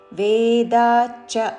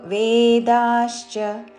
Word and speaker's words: వేదాశ్చ: బ్రాహ్మణాస్తేన వేదాశ్చ వేదాచ్చ అని చాకి చావత్తు కాదు, తాళవ్యషాకి చావత్తుతో వేదాశ్చ బ్రాహ్మణాస్తేన వేదాశ్చ యజ్ఞాశ్చ విహితాః పురా.